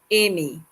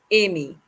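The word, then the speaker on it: aimer: through the pronunciation amy the first one ago is a-i-m-e-r amy you can go ahead and try pronouncing it amy next we have it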